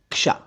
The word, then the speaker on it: क्ष: के एस एच ए अब इसे के यानी क से बोलना शुरू करें लेकिन अचानक श बोल दें देखिए श यह आप बोलेंगे लेकिन थोड़ा तेज बोलेंगे तब सही उच्चारण आएगा वरना कशा हो जाएगा क्ष क बोलना शुरू